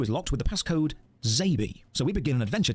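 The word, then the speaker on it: XABY: Means X-A-B-Y, which would phonetically be pronounced Zabi, and it also refers to the buttons on the SNES controller.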